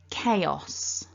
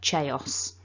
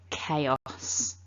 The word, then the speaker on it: chaos: and church and so the number one mistake i hear from my students with this word is people wanting to pronounce it with a cha chaos um but it's not